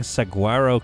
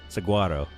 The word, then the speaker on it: saguaro: That's like saying saguarro cactus. It isn't pronounced how it's spelled at all. Saguarro. What? How do you How do you say it? Saguaro.